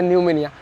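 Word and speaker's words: pneumonia: i right no it's not phenomena it's a new mania the word pronounced we usually pronounce it newmania but whenever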